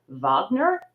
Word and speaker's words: Wagner: block likes to say vogner because that's the correct way to pronounce it uh that is our